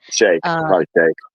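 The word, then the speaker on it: Sheikh: Shak or Shikhaf I don't know how to pronounce it. Shake.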